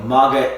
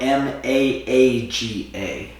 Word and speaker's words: Maaga: Not make America great again. Although this was 30 years ago. Maga, Maaga, but pronounce the same, Maga.